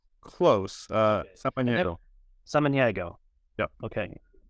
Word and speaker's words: Samaniego: Samaniego. Samaniego. Yep. Okay. It's not pronounced the way it's spelled.